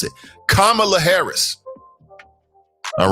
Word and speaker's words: Kamala: the Choppers had to teach me how to pronounce it Kamala Harris all right get it right get it